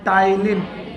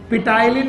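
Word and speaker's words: ptyalin: enzyme है नाम है टाइलिन टाइलिन पटाइन नहीं पी को साइलेंट करना है टाइलिन पढ़ना है इट इज नोन एज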